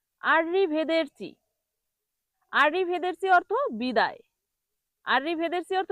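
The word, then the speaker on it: arrivederci: উচ্চারণ আররি ভেদেরচি। আর ভেদেরি অর্থ বিদায়। আররি ভেদেরসি অর্থ কি? বিদায়। তাহলে এটাকে ভুল করে মানুষ কি বলে জানেন? দেখুন আরি ভেদারসি আরিভেদারসি বলে।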